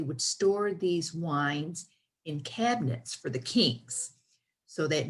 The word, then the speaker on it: Kabinett: you'll definitely like this and they call it cabinet spelt with a k and that means something it's